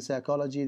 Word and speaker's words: psychology: And then psychology, the P is silent.